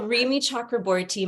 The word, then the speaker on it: Rimi Chakraborty: it's a mouthful and by the way you pronounced it beautifully oh thank you so Remy chakra borti my my family's from India so of course